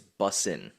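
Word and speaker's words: bussin: You're not saying it right. It's busing.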